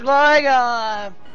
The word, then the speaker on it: Gligar: Don't say Gliggers, don't say Gliggers, don't say Gliggers. It's pronounced Gligar!